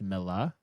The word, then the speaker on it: Millar: Also, I'm finding out that it's called his last name's pronounced Milla. Yeah, that's what John Tracy just said. Milla? Miller. Yeah. Or Millar. Not with the It's hard R. Miller?